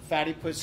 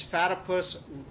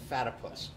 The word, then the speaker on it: Fatipus: Mad River Valley, and Fatty Puss Skis. Fatipus. I've been saying this wrong. I got corrected by the owner. It's Fatipus, rhymes with platypus. Not Fatty Puss, Fatipus.